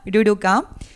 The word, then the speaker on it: ruruka: hayas preguntado esa pregunta bueno se pronuncia ruruka y es una palabra que viene del guaraní Este es un proyecto